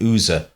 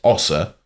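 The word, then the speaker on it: Oser: you will find that it's it's spelled o s e r which the instin is to call that an oer but we have it on good authority it was pronounced slow locally as Osa right now what is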